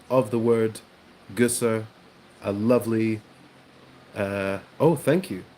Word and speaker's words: Gösser: We're waiting, ladies and gentlemen, for the German seal of approval on my pronunciation of the word Gösser.